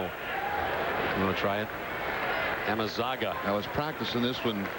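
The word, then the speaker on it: Amezaga: I'll go with the pronunciation. Amazuga.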